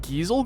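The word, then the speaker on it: Gysahl: pass your master in my regards so they're pronounced giesel greens always pronounced in the Geisel greens yeah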